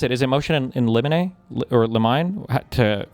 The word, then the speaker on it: limine: Is it motion in limine or limine? You were close on the first one. Is it motion in limine? Limine. Limine. Like limine cricket. Like chimney.